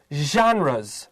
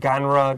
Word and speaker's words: genre: Genre has a special pronunciation. Don't say genre. Don't say I don't know something. I wouldn't even know what other people would say. 这个 Gene has 有 sh 还要加一个 j 的发音，so sh j z。